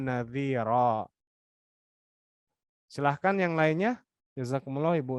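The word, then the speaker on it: نَذِيرًا: Karena ada fathatain mad iwad di sini. Kalau di sini dhamma idgham bi gunnah ya, yang terakhir mad iwad. Jadi basyirau wa nadhira.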